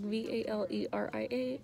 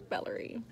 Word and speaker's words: Valeria: I'm like, V-A-L-E-R-I-A. And they're like, it's like Valerie. I was like, it's Valeria, not Valerie.